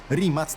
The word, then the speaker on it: Rimac: nevera aaj sama nazwa rimac jest też ciekawa pewnie z angielska wiele osób chciałoby wymawiać rim ale rimat tak ma na nazwisko człowiek który założył t markę i stąd właśnie taka Słowiańska wymowa bo przecież Chorwaci to